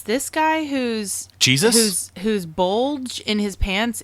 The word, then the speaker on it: Jesus: I love that he's a Latino, but he pronounces his name in the English way. Right. He doesn't say Jesus. He says Jesus.